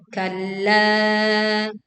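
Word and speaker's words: كَلَّا: Kalla. Tekan lam bertasydid lalu panjangkan la 4 sampai 5 harokat.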